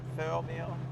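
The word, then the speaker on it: Thirlmere: Thelmere, that's how you say it.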